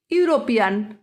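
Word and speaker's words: European: এ এ ইউরোপিয়ান। ইউরোপিয়ানের স্পেলিংটা যদিও ই দিয়ে শুরু হচ্ছে, কিন্তু প্রোনাউন্সিয়েশন হচ্ছে ওয়াই দিয়ে, সুতরাং ইউরোপিয়ানের আগে এ বসবে।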